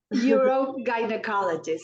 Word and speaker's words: urogynecologist: And we're going to have a very interesting conversation on, she is an help me pronounce this. Urogynecologist. Urogynecologist.